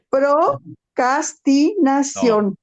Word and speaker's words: procrastinación: A ver, te ayudo con la pronunciación. No, Procrastinación.